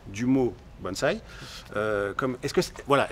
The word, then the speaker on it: bonsaï: ce et non pas donc les gens disent bonsaï mais ça se prononce véritablement bonsai comme ça se prononce effectivement japonais d'accord donc